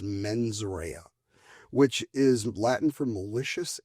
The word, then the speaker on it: mens rea: And I know my Latin is terrible, but I believe it's pronounced mens rea, which is Latin for malicious intent.